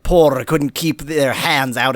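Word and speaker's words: Porre: The old lady, she's from Por? I'm giving it a Spanish pronunciation because it has 2 R's in it.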